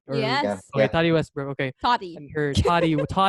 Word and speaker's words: Tati Westbrook: Okay, Tati Westbrook.